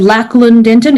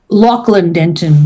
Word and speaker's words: Lachlan Denton: And I know you said Lachlan Denton. It's Lachlan Denton.